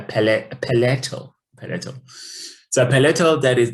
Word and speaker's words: palatal: the paleto the palatal i just realized i've been referring to this as a palliative and then i was i looked up the articulation of this word in american english they pronounce it as a palatal palette the palette that